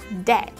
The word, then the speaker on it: dead: Chúng ta có dead. Dead. Dead. Chết đúng không? Tính từ chết đúng không? Và chữ cái ea ở đây chúng ta sẽ đọc là e, âm e.